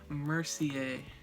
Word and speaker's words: Mercier: It's Laura Mercier. You don't pronounce the R.